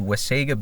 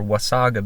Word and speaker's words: Wasaga: little beach town called Wasaga Beach, or Wasaga Beach. I say Wasaga. I guess both pronunciations work. I asked some locals and they all kind of agreed on that.